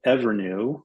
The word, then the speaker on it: EVRNU: I'll give you another example of a company that's called Evernew, which is spelled EVRNU.